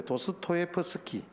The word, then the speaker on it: 도스토예프스키: 러시아의 대문호인 도스토옙스키가, 항상 이 발음이 그런데 도스토예프스키, 예, 아주 유명한 작가죠.